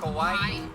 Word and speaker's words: Kauai: Kauai. Kauai Boba. So it sounds like Hawaii.